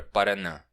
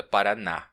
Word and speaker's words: paranã: Olha aí a palavra paranã, que também pode ser pronunciada paraá, né?